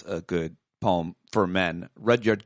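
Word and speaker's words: Rudyard: good poem for men redyard Kipling is that how you say his name I used to say it Rudy yard and then and then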